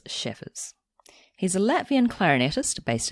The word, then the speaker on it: Šēfers: First of all, I was just going to ask you the pronunciation of your name. Yes, it's Šēfers.